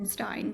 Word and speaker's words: Berenstain: Going along with the children's fairy tale books, this was not really a fairy tale, but the Berenstain Bears is actually pronounced the Berenstain Bears.